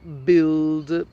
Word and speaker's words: build: Okay, now there are words which have the UI where the U is silent instead of the I. For example, build and all the combinations.